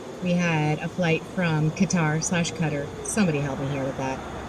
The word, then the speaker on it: Qatar: had a flight from Qatar cutter somebody helping here but I I understand the cutter is like the right pronunciation but I just hasn't seemed to catch on so people think it's wrong I don't know input